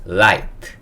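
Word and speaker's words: light: 등을 얘기하게 돼요인데은 소리 아는 아이 소리가 나고요 gh 금이라고 봐주셔도 돼요 예 소리 내지 않습니다 그다음에 마지막 티가 트 소리 그래서 거는 라이트 라이트라고 읽을 수 있어요 라이트라는 거는 조명 빛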